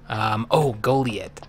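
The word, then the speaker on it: Goliet: Goliath. That's right. Oh, that's right. Yep, the one that rhymes with toilet. Kind of. If you say it just right.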